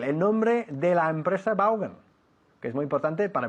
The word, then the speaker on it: Vaughan: ¿Y cómo se pronuncia en realidad? No se dice Vaughan, aunque aquí sí. Se dice Vaughan. Vaughan? Vaughan, así. Pero como nadie lo hace bien aquí, Vaughan. insistimos con Vaughan.